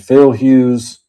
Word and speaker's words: Phil Hughes: Phil's Pools is Phil Hughess. Is how I think you pronounce it. No, Phil Hughes.